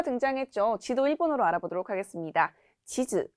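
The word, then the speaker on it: 地図: 지즈, 단음으로 읽죠. 주의하실 점은 치즈라고 단음이 아니라 장음으로 읽는 경우에는 먹는 치즈가 되기 때문에 발음 주의해 주시고요. 지도의 경우에는 단음으로 치즈라고 읽는다는 점 주의하시면 되겠습니다.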